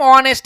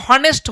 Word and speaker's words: honest: अब देखिए, अब लिखेंगे हम ऑनेस्ट, HONEST, ऑनेस्ट मैन।